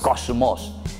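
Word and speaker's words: κόσμος: era el mundo eso saben cómo se dice en griego se dice cosmos digan un poco como se dice en griego kósmos hay un evangelista que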